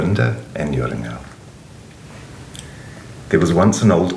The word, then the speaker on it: Joringel: of Yura and yingo when I was young of of course I didn't understand how the European J is pronounced and so I thought it was jorinda and jaring girl but now that I know better I will I will be pronouncing it in the correct German Way Yura and yural there